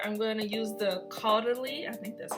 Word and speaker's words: Caudalie: starting with moisturizer i'm going to use the caudalie i think that's how you say it uh